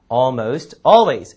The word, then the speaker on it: almost: 거의에 해당하는 게 almost니까 almost always. 그렇죠? 자, AL 발음이지만 AL 발음에 L은 거의 발음이 안 되고 좀 빨리 지나가는 경향이 있죠? almost always 이런 식으로요.